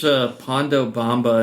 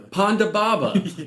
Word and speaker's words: Ponda Baba: I search Pondo Bamba and I'm just getting Mambo number 5. I think these are CPAP machines. Ponda. Sounds like you're just like mispronouncing panda. Ponda Baba.